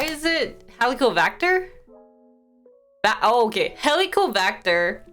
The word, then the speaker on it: Helicobacter: Helicobacter. Bacter, not V.